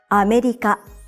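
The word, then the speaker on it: アメリカ: The word America in Japanese has 4 syllables, and you say each syllable for the same length of time. America. Pronounce it like this to sound like a native Japanese speaker.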